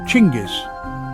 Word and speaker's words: Genghis: In Mongolian, it's pronounced closer to Chingis.